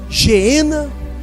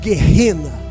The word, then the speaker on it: Geena: Aí vem a terceira palavra traduzida na Bíblia por inferno, que é Geena, ou Geena, ou como alguém queira pronunciar, o Gehenna.